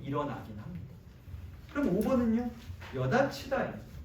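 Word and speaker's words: 여닫히다: 여다치다예요. 여다치다. 발음이 어떻게 되냐면 여다치다입니다. 왜 이렇게 되느냐? 맨 처음에 여다치다, 즉 거센 소리가 일어났고요. 그 다음에 티읕 더하기 2에서 구개음화인 이렇게.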